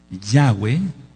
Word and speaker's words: Yahweh: que no tiene el pacto de la circuncisión Yahweh que así se pronuncia por lo que ya expliqué no puede